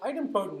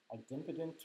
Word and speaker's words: idempotent: So idempotent methods, I've heard that word pronounced idempotent or idempotent, or a couple different ways. I think idempotent is the way I've heard it most.